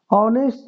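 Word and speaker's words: honest: is rare these डज़ ऑनेस्ट देखिए यहां पे ए से है लेकिन उच्चारण जो है इसका अ से जो है वोवेल से शुरू हो रहा है तो यहां पे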